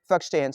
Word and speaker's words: verstehen: It's a verstehen, but in Germany we simply say verstehen.